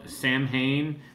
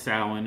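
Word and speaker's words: Samhain: event which is called Sam Hayne weekend now I know it's pronounced sin and I'm probably going to get a call from Glenn Danzig telling me this but we're calling it The Sam Han weekend and we're showing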